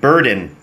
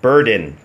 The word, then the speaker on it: burden: นะ ครับ ก็ คือ burden นะ ฮะ ก็ คือ นก เดิน นะ ฮะ เน นะ ไม่ ใช่ เดน นะ ฮะ เด เดน buren เฮ้ย มุก 2 บาท